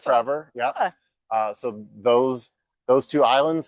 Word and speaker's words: Trefor: One is Elsa Craig, and one is another island off of Wales called Trevor. It's spelled with an F, but it's pronounced Trevor.